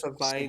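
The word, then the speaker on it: Savaiinaea: Jonas Savainia. Savainia.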